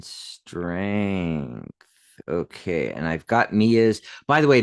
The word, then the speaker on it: Mia: And I've got Mia's. By the way, Mia did phonetically type it for us. M-E-U-H. Mia. So we did say it right.